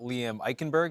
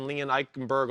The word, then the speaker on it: Liam Eichenberg: Also got a question about Liam Eichenberg.